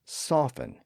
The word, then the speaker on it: soften: now in most dialects the T sound also disappeared in the middle of a word when it followed an F sound like in the words often and soften so again those words are spelled with a t today even though it's usually silent the history of often